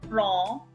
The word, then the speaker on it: prends: I repeat, je prends, D silent, S silent, D and S not pronounced, only EN is pronounced as on, okay?